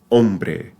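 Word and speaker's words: hombre: a special one because the letter H is always silent in Spanish it has no pronunciation at all regardless of where it appears so long as it's by itself so AER yo ombre so even if it's in the middle you just skip it Alo but do you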